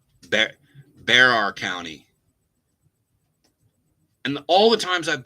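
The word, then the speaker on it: Bexar: Pronounced like bear. Stat Miller always got it wrong too. Oh yeah, you're right. I mispronounced Barracks County. Bear County.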